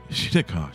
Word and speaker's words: Shinnecock: Once again, that's pronounced Shinnecock. Shinnecock.